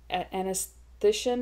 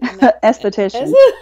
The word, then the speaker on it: aesthetician: At one time you were telling me when you were a clinical anesthetician, is that how you say it? Aesthetician.